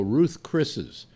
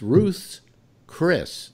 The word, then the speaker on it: Ruth's Chris: pronounce it right no hardly anybody ever does they go Ruth's Chris's but it's Ruth's Chris now why is it